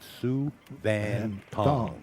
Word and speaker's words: Souvanthong: He said Sue Van Tong.